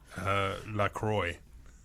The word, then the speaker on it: La Croix: La Croix. Do you know that's how you pronounce it?